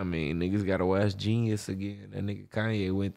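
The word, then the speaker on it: jeen-yuhs: Yeah, Genius. It's spelled crazy, but it's Genius. It's spelled like with a J.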